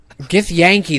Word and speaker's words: Githyanki: Githyanki, that's how you pronounce the full Listen.